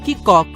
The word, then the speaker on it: cock: अभी आप सोच रहे होंगे इस शब्द का उच्चारण कैसे करें, कॉक क की कॉक।